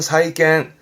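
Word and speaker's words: 債券: 발음은 사이갱, 음으로는 캔가요? 사이갱, 사이갱.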